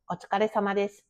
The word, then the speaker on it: Otsukaresama desu: Don't say "Otsukaresama" like a beginner. Smooth it out. "Otsukaresama desu." Run it together like one word.